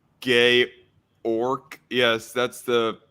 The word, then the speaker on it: Georg: Pronounced gay orc.